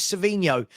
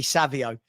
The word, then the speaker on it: Savio: I've had this all summer when people say his name's Cinho and his name's actually Savio.